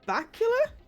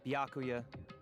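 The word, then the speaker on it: Byakuya: all so annoying uh bakula it's biakuya yeah curia biaquilla yeah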